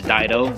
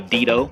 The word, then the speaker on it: Dido: They pronounce Dido, the name as Dido, but it should be Dido.